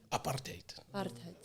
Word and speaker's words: apartheid: I sound like I'm saying appetite. I think you almost like to make it sound a little bit more harsh.